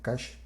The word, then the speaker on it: cache: los que les gusta pronunciarlo como catch que es de hecho la forma correcta pero aquí latinoamérica la